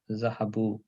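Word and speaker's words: ذهبوا: Now they went is Zahabu. Note that there is an alif at the end of the word which is not pronounced.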